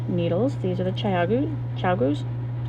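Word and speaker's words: ChiaoGoo: of the knitting needles these are the chayagu chagoos that's how you pronounce and then the chocolate twist down there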